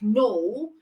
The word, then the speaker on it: know: You can have silent letter K in words like no, as in Know.